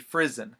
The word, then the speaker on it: Frison: in in an interview described her last name as being pronounced like prison like you're going to prison but it's Jenny frizzen so just FYI if